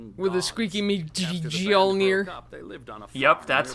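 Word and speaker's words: Mjölnir: That's right, with a squeaky me Mjolnir. Yep, that's how you pronounce it.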